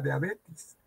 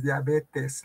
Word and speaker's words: diabetes: La enfermedad no se llama diabetes, es diabetes, la E, ya ve, esas son mis alumnos.